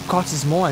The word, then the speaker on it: Cottesmore: Or Cottesmore, as it's supposed to be pronounced.